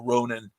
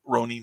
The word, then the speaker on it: Ronin: super super dug uh ronan ronin rather ronin this proper pronunciation but um after that